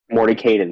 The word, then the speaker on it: Mordenkainen: Morden Kanan. Mordenkainen, there it is.